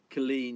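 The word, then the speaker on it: Culzean: stop in at what they locally call Killeen oh yeah we were pronouncing it we got corrected a couple of times is its spelt Cole's ian c UL z EA n really nice fooled by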